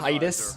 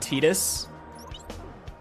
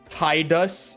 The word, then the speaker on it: Tidus: I was like, that's just, it's the Kana pronunciation. They just stuck with it for some reason. Tidus is incorrect.